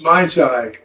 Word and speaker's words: Mind Sci: The clinic name stands for Mind Science. It's pronounced Mind Sci.